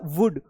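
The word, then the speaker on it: would: L silent हो गया कुड यू के बाद भी साइलेंट होता है और वुड यहां पर भी साइलेंट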